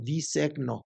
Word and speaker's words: disegno: Bueno, pero no terminé, perdóname, de decirte, entonces es disigno, disegno. Entonces ya se usa la GN Ujú, para pronunciar la ñ, que es más nasal.